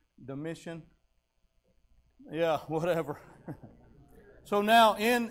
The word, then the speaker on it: Domitian: under uh i think he's the way you pronounce it is domitian or dom dom anyway i'm bad with names d-o-m-i-t-i-n is that how you say it brother bailey is that how you say his name domitian yeah whatever so now in in the book